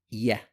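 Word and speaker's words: ي: is a light letter make sure you pronounce it light it's a common mistake to say yo correct pronunciation is yeah yeah yeah first line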